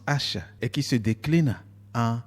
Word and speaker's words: ASH: signé par le tagueur ASH, sigle qui se prononce H et qui se décline